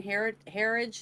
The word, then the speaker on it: Herridge: This is what the whole thing with the Catherine Herridge is how you say her last name?